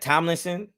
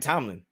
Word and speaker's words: Tomlin: Mike Tomlinson. Did I say his name wrong? I thought his name was Mike Tomlin. I'm bugging. His name ain't Tomlinson. You adding shit.